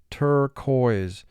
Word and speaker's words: turquoise: was a turquoise color turquoise tur has two sounds er koi's three sounds q u is